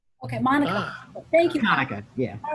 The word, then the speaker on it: Hanukkah: Yeah, I think that'd be is it pronounced Kayanka? Hanukkah, just like Monica. Okay, Monica. Thank you. Hanukkah, yeah.